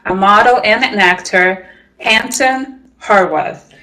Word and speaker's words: Hansen Horvath: model and an actor, Hansen Horvath. Did I say it right? Yeah, Hansen Horvath.